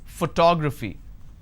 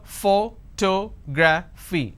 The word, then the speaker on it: photography: Photography. And how many syllables do I have here? Photography. 4 syllables. But in this case, I stress on the second syllable.